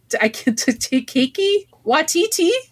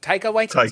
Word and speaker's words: Taika Waititi: If Takiki Watiti, I'm saying his name wrong. Kiki Waititi. Thank you. Oh, I love that. This is Taika Waititi.